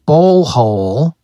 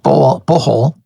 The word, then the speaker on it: Bohol: Okay, now, somebody asked me if you can surf in Bohol. Sorry, I didn't pronounce that right. Bohol.